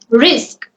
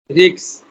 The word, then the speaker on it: risk: Rigs, Risk. rigs, No, you are pronouncing it as risks. No, risk.